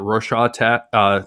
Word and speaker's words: Rorschach: How do you pronounce that? Rorschach test, like that splatter test, where it's like,